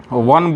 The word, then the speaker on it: one: वन बोलिएगा तो हिंदी का व पहले आता है, इसलिए इसके पहले ए लगेगा।